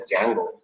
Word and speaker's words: Django: actually we call it as Django. D is silent.